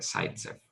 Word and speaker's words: Zaitsev: Pero se le llama, en primera aproximación, regla de Zaitsev.